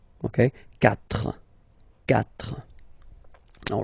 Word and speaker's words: quatre: When we get this q letter and then a vowel after, then we will have to put this u. Okay, so you get this q, u, a, but then the sound that you will pronounce is k.